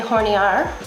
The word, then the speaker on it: hornear: Baking powder, polvo de hornear. The H is silent.